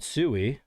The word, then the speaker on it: Sui: Mist labs creates their block their layer 1 blockchain called Suie technically. SUI s we e basically how you say it.